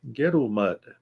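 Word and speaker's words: Ngerulmud: It's hard to pronounce. Let me see. Gerulmud. That's it. Gerulmud.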